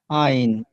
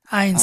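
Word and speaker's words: eins: আইন। আইনস। আইনস এস আসবে সাথে।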